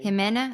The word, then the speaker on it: Jimena: Jimena.